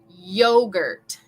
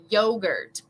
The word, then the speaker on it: yogurt: We want to say yeah from the back of our throat. Yogurt, yogurt. Okay, yogurt. So practice with me. Yeah. We don't want to say ja. Yeah. It's going to be a little different pronunciation in English.